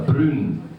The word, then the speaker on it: broon: bag of Brown or Broon. As we say, how do you say brown? Brown. You say broon in Scots.